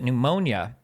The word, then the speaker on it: pneumonia: who'd been sick with pneumonia the p is silent by the way Mac in case you